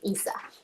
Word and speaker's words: Issa: I think Issa. Is that how you say it? Yeah. Based on the audiobook, Issa.